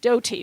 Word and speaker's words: Doughty: I this is spelled it like wrong. bread dough. Yeah, it looks like doughy. Doughty, but you say doughty.